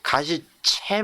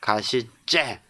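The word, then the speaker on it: 가시째: 여러분들 꼭 아셔야 되 가시 째 우리는 가시채 먹는다라고 발음을 많이들 해요 그러나 가시 째 우리가 뭐 송두리째 송두리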